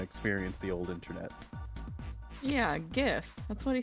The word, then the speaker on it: GIF: and want to experience the old internet yeah gift that's what he said a gif GIF I